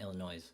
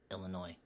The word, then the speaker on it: Illinois: it was Illinois David the S is silent in Illinois okay that's not Illinois it's Illinois you know Cutlass Supreme